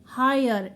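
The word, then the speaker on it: hire: ई silent हो गया high यर ह आय र हायर ई साइलेंट हो जाएगा हमेशा याद रखें आर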